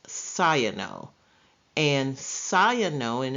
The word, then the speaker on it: cyano: we have the prefix of cyano it is pronounced cyano and cyano in its prefix is means blue